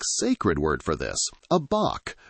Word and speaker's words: bach: A New Zealander has a specific sacred word for this, a bach, pronounced like batch.